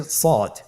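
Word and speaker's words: صاد: শুরুতে আমরা শুরু করছি সদ। সদ হরফটি পর হরফ। মোটা হরফ উচ্চারণ ক্ষেত্রে মোটা করে পড়তে হবে এবং উচ্চারণ করার সময় তিন আলিফ টেনে পড়তে হবে।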